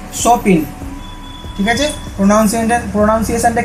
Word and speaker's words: Chopin: কে লিখছেন story of আওয়ার লিখছেন হচ্ছে কে চপিন নয় উচ্চারণটা হবে কি কে সপিন ঠিক আছে প্রনাউন্সিয়েশনটা কি হবে কেট সপিনযার জন্মগত